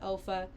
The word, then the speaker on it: Olfa: a um one the olfa I guess you pronounced that Alpha tools it is a